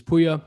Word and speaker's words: Pouya: my background in my bio my name is puya since i get that question asked fairly often uh just so people know that's how it's pronounced as puya and um i got into sales and into